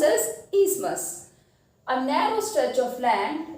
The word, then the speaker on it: isthmus: This is pronounced as isthmus.